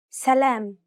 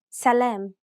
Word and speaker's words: سلام: كتاب كتاب سلام سلام حدود حدود مراكز مراكز مفاتيح مفاتيح مسؤولين مسؤولين. See how the long syllable that is closest to the end of each word was stressed?